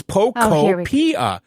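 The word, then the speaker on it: Pokopia: It's Pocopia. I'm saying it correctly. It's like It's like Poképia. It It rhymes with utopia.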